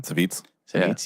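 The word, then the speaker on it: Savjz: Savitz.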